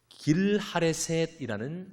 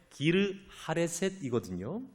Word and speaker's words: 기르하레셋: 이건요, 열왕기하 3장 25절을 보면 길하레셋이라는 이제 지명이 나옵니다. 이게 어디냐면 고대 모압의 수도입니다. 그런데 이 발음을 정확히 하면 기르하레셋이거든요.